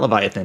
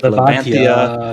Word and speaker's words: Levantia: It's not Leviathan. It's like Levantia Shatham, not Leviathan Shatham.